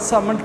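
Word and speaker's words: Salmond: सिर्फ ये sir John सामंट की डेफिनेशन है, ठीक है, सामंट, सर जॉन सामंट। इसमें एल जो है वो साइलेंट है, एल नहीं बोलेंगे, सर जॉन सामंट लिखने में एल आएगा, अब बोलेंगे नहीं।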